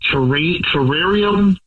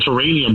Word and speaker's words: terrarium: Uh, I took her to an indoor plant terrarium. It's my pronunciation's bad. I keep saying terranium, but I know something else. Terrarium, right?